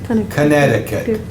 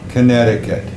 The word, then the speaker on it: Connecticut: doesn't sound like what it looks like it's pronounced Connecticut Connecticut yep there's some extra seas in there we